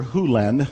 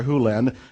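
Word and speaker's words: Hew Len: Lin's world and it's actually Doctor Who lend I've shortened it from E to dr. lend but it's actually Doctor Who Lind if you want to say his name correctly in Doctor Who limbs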